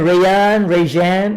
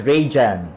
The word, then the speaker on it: Rajan: I went Rajan or something like that, and it's actually pronounced as Rajan.